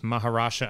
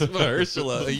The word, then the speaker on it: Mahershala: Well, be interesting to see where they go with Maharsha Ali, the newly announced. His name is Mahershala.